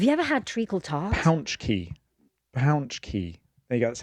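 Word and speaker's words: pączki: Pounch key. There you go. That's how it's pronounced.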